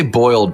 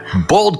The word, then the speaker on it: boiled: in this house yeah you don't say boiled if you say boiled people like gag because that sounds gross but bald custard that's just kind of how you say it and my grandmother